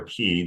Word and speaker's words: chi: be with you so x is actually a chi or key depending on how you pronounce it and it developed in early christian tradition that the kai could be used in